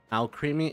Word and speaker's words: Alcremie: Alcremie? It's pronounced Alcremie. Oh, okay. Creme, not cream. Creme. Like alchemy, but with an R.